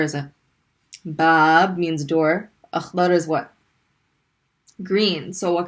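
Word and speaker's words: أخضر: You have Alif Hamza with a fatha. We're going to pronounce a. Stop on the kha because there's a sukun. Akh. Dad fatha. Da. And stop on the ra because it doesn't have any. Akhdar. Akhdar.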